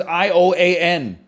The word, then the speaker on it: Ioan Gruffudd: I don't know how to pronounce his name. It's Ioan.